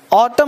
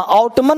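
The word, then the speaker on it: autumn: ऑटम मतलब पतझड़, इस एन को मत बोलना, ऑटमन मत बोलना, ऑटम, एन चुप रहता है, जब भी एम के साथ एन लगा गया हो तो उस एन को साइलेंट रखते हैं, यहां तक सबने।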